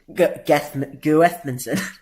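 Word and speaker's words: Guðmundsson: So it's actually Johan Berg Guthmundsson? Guthmundsson.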